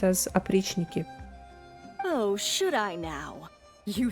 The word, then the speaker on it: Oprichniki: Pronounced as Oprichniki.